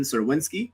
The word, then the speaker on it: Czerwinski: as always i'm joined by joe fursaro and we have a very special guest today uh sirwinsky did i pronounce that right yes you could are beautiful